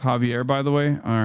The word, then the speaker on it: Xavier: Xavier is pronounced Javier, by the way.